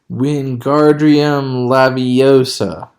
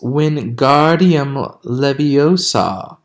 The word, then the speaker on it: Wingardium Leviosa: having much more luck Wingardium Leviosa he shouted waving his long arms like a windmill you're saying it wrong Harry Hermione snapped its Wingardium Leviosa make the GAR nice and long you do it then